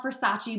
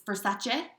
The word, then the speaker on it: Versace: So we call it Versace, but it's Versace. Is that how you say it?